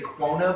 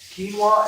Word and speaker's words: quinoa: or sweet potato this one everyone has difficulty pronouncing it myself included i used to say quona but i think they they say the official pronunciation is quinoa so quinoa and then yams which is also another sort